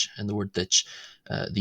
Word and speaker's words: duit: The second D in ditch ditch is adjacent to the broad vowel U and the T at the end of ditch ditch is adjacent to the slender vowel I.